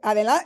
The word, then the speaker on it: adelante: For those of you that don't speak Spanish, they're watching, it's like, you could say adelante.